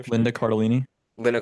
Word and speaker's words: Cardellini: But I just love Lisa Cardinelli. Is that how you pronounce her name? Sure. Linda Cardellini. Linda Cardellini.